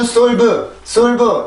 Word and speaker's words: solve: 한국어로는 solve 이렇게 이음절로 쓰지만 영어로는 solve가 아니라 이 발음교를 써주게 돼요. 아까 전에 F 발음을 할 때 이 발음을 잠깐 본 적이 있었죠. 그래서 이 발음을 해줄 때는 아래턱이 많이 내려가고 입이 아래턱이 내려가니까 당연히 입이 열리겠죠. 그 상태에서 내가 볼을 이렇게 안쪽으로 넣어준다라는 느낌으로 발음을 해주시면 돼요.